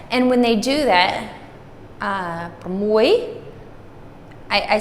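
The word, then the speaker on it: ប្រាំមួយ: And when they do that, pramoy, I said it correctly earlier, but this is the accented syllable, or the accented word of the two.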